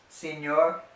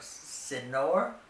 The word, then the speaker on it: señor: When you see an ñ, remember that it has an invisible Y right after it. So instead of señor, it's señor.